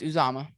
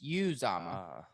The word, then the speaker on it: Uzomah: Is it Uzama? No, it's Uzama. Okay. Uzama. Sorry, it's Uzama.